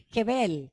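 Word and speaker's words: חבל: del hebreo que pronuncia se pronuncia jebel teniendo una K antes jebel que significa lazo atadura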